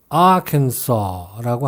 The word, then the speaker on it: Arkansas: 여기에서는 Kansas가 아니라 큰 saw로 변해서 Arkansas라고 합니다.